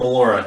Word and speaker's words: Mollura: Mollura. Did I pronounce that right? Because I remember. Yep, Mollura, you got it.